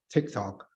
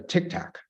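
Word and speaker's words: TikTok: uh asking questions about Tik Tok they couldn't even pronounce Tik Tok correctly uh they pronounce pronounce it as a Tic Tac um which is uh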